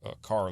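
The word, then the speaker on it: Kerr: Gaston is fed from car Lake and they pronounce it car but it's k r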